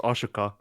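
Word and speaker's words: Ahsoka: Oh, also her name is pronounced Ashoka.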